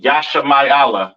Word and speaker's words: Yashamayala: Pronounced Yashamayala in the Hebrew.